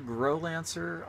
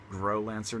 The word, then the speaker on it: Growlancer: And this is, I want to say, this is pronounced Growlancer, not Growlancer, like many people like to say. I can say that with 100% confidence, because the Japanese is clearly Growlancer.